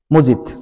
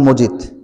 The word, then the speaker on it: মাজিদ: আমরা বলি কি আব্দুল মজিদ কিন্তু এখানে স্কলাররা বলেন বা আমারও চিন্তা হলো আমার আমাদেরকে মজিদ বলা উচিত না বলা উচিত আব্দুল মাজিদ কারণ শব্দটা কোরআনে মাজিদ হিসেবেই প্রয়োগ হয়েছে তার মানে তার কি